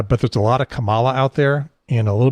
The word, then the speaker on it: Kamala: do for men yeah first name wise i believe that the consensus is kamala that's how she's chosen to pronounce it yeah and that's that's